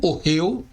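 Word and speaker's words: אהל: Simplificando, ela é lida como orreu, o H é mudo, como já vimos, e ela significa tenda, ok?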